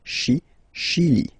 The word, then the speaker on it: Chili: Okay, Chili. Le Chili. La Bolivie. Okay, final E not pronounced.